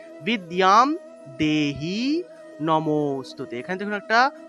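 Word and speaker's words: বিদ্যাং: যে জায়গাতে জ ফলা পাবো সেই জায়গাতে ইয় উচ্চারণ করব তাহলে বিদ্যাম বিদ্যাম দেহি নমোস্তুতে এখানে দেখুন একটা হ এর মত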